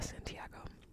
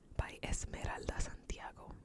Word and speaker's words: Santiago: is when I was Puerto Rican by Esmeralda Santiago why am I saying it like that let me say it right when I was Puerto Rican Santiago so this book actually my boyfriend got for